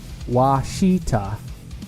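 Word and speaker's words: Ouachita: is where the name comes from how it's pronounce wasita oh okay wasta mountains okay wasita mountains wasita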